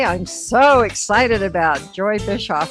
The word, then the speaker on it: Bischoff: my guest today I'm so excited about Joy Bishop how are you wonderful Pat did I pronounce that correctly you got it right all